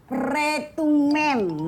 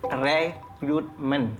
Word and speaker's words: rekrutmen: Istilahnya tuh retumen. Nah, kayak itu. Bu Naya, bukan rekrutmen. Bacanya tuh rekrutmen.